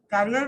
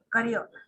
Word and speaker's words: career: responsible and challenging career, career नहीं, career.